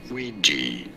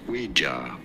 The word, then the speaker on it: Ouija: Ouija. I know. It looks like it should be Ouija, but no, it is Ouija.